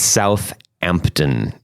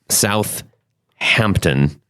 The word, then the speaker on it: Southampton: And just for some clarification, it is, if you look at it, it's Southampton. There's no double H in there. It's not Southampton.